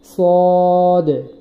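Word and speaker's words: ص: সদ, সদ বলার সময় ঠোঁটটা গোল হবে না, নিচের ঠোঁটটা স্বাভাবিকভাবেই থাকবে। হ্যাঁ, একটু মোটা করে বলতে হবে সদ, সদ এইভাবে।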